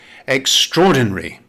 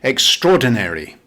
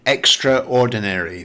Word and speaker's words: extraordinary: It has 5 syllables. Stress the second syllable. The British pronunciation is extraordinary. Now, the American pronunciation is a little different. They make the last syllable longer. They say extraordinary.